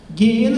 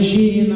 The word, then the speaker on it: Geena: Geena escreve sem U mesmo, viu? Não é Geena não, porque em hebraico todas as palavras com G tem som de G forte, ela nunca vai ter som de J.